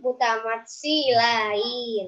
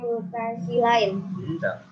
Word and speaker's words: mutamatsilain: Cara membacanya double masuk ke huruf berikutnya. Tas tati alaihi termasuk bacaan idgham mutasilain. Ini apa? Idgham takoribain. Jangan deh. Mutasilain. Salah. Mutamat silain.